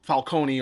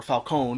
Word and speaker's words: Falcone: it's you know um falcone or falcone because in this movie they call them falcone even though if memory serves they've always pronounced the e in falcone but i guess potato